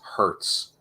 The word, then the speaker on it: Hurst: trauma freelancing for them I was mispronouncing Michael Hurst his last name is Hertz because I wasn't looking to rent a car I was I was